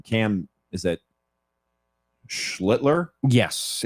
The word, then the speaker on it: Schlittler: How do you pronounce his last name? Cam, is it Schlittler? Yes, it's Schlittler.